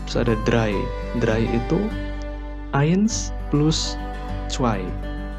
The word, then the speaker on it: eins: Kalau huruf E ketemu I itu dibacanya jadi ini, I. Oke, jadi misal di sini ada eins, berarti dibacanya eins.